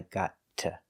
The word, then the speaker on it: got to: work early today but when you want to express special permission or opportunity then we always pronounce it with a t sound we don't say I gotta we say I got to I got to leave